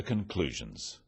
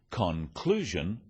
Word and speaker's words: conclusion: end of sentences let's move on to the conclusions about our products after sales service is critical